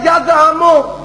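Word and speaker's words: يدهم: یہ اوپر لکھا ہوا ہے غلط, صحیح تلفظ ہے یدہم.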